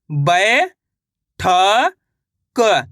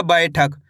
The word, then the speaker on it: बैठक: बा में आई की मात्रा बै, ठ क, तो मिलकर बन जाएगा बैठक। इस तरीके से आपको पढ़ना है बैठक, ऐसे नहीं पढ़ना बैठक। कैसे? बैठक। आई करके उच्चारण निकालना है।